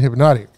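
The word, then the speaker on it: Hpnotiq: hypnotic yeah there's no why is there a c no it's a q see I wouldn't have known that either I mean it's in the so so the way it's spelled now is HP n o TI IQ okay yeah it's got you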